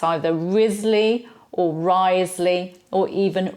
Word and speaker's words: Wriothesley: Charles Ridley and we have Thomas Risley we do not have Charles and Thomas Wriothesley so there's a few